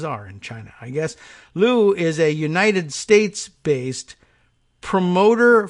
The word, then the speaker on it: Lu: Lu. And it's pronounced, it's spelled L-O-U, like Lou, like short for Lewis.